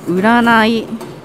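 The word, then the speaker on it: 占い: うらないと読みます。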